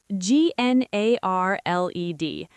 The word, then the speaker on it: gnarled: G N A R L E D.